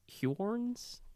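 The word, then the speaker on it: Huorns: some other creatures called Hjorns. I think Hjorns? usually pronounced horns, I think. Brother, there's a U in it. I know. Is he French? H-U-O-R-N-S. Yeah. That's not pronounced horns.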